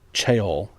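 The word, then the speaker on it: ceorl: A churl, originally spelled C-E-O-R-L, pronounced cheol, and later became churl, C-H-U-R-L, was a term for, and I quote, a rude, ill-bred person.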